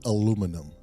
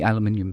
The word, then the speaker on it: aluminium: I love the way people overseas uh say aluminum for that actually was originally called and some